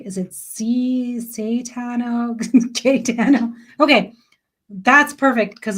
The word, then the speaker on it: Cayetano: Katano. Kano. Okay. I was like, is it Catano?